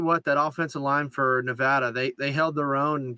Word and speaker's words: Nevada: But they had another Mountain West, another team we were all high on is Nevada, and we did do a Twitter poll. It is Nevada.